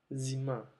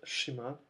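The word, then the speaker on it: зима: Zima. Zim significa invierno. Bueno, les sugiero que jueguen con la pronunciación con los sonidos porque esta no es cima, no es shima, no es sima, sino es zima.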